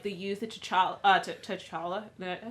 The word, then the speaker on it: T'Challa: So, but it kind of did sort of get me started and, like the youth of T'Challa. Did I say it right? I didn't. T'Challa.